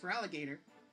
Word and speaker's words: Feraligatr: So they had to improvise and just remove the O, so that way it's still pronounced Feraligatr, but it looks a bit stupid.